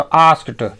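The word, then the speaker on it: asked: आस्क मतलब पूछना छा यह जो डी को टी उच्चात कर रहे हैं ना क्योंकि एक नियम है कि फ स च प क ऐसे अक्षरों से अगर कोई शब्द का अंत होता है तो उसके बाद जो ईडी लगता है ना उसको ट उच्चारित करते हैं तो आस्क ट व्हाट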